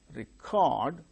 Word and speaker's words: record: present the initial syllable first syllable gains a stress when it is used as noun percent that is verb we record we record the proceedings and a record we maintain a record and in that record we record things now I think you